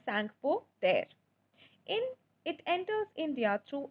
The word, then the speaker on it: Tsangpo: So it is pronounced as Tsangpo and T is silent. So it is Tsangpo.